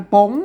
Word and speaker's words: ป๋ง: ครับ อ่า ตัว นี้ อ่าน ว่า โป่ง ไม่ ใช่ ปง คน ทั่ว ไป มัน อ่าน ว่า ปง เนี่ย มัน บ่ ได้ แล้ว อ่าน ว่า ป๋ง ครับ มา อ่าน